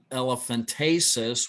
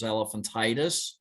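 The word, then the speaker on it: elephantiasis: lead to lymphedema and elephantasis which a lot of people mispronounce as elephantitis which can cause swelling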